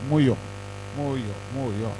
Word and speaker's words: Mu: The next one is Moyo, MU, pronounced Moyo.